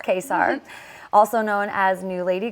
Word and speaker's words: Kacar: my name is quar not many people know how to say my last name pronounce quar also known as new